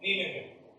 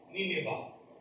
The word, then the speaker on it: Nineveh: Now, let's go back to Nineveh. Actually, this is pronounced Nineveh. It is pronounced Nineveh, not Nineveh.